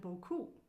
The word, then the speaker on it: beaucoup: Okay, so you've got merci is the trill, and beaucoup. So beaucoup is one word with two syllables.